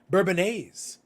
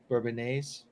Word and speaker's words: Bourbonnais: if you No, look, it's the word bourbon. Like if you look at the way it's spelled, it's like bourbon. All right. And then you're finishing with A's. So I'm like, no, I'm gonna say Bourbonnaise. Okay.